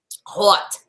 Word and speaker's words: haute: Haute. No H. The H is silent. The H is silent. Hot. Haute couture.